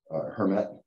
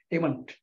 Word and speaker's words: Hemant: And I guess I'm interested in if, you know, either Alex or Herman, Hermet, saying that right? No, Hemant.